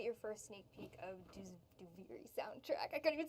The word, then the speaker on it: Duviri: We've been typing it only because we're still working remotely, so saying Duviri out loud is that's how you pronounce it, by the way. Duviri.